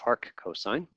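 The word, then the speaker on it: arccos: to the ne1 or a RC cos that's pronounced Arc cosine we'll take that of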